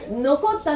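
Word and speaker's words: 残った: Say it like this. Hakkeyoi. Nokotta, nokotta.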